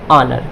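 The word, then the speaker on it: honour: अब इसी तरीके से ये देखिए, O क्या है आपका, वोवेल, O से पहले क्या है, कॉन्सोनेंट यानी H है, तो ये H क्या होगा आपका, साइलेंट होगा। तो क्या हो जाएगा, ऑनर।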